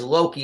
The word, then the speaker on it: Loki: But I knew it was Loki, but I just didn't know in what.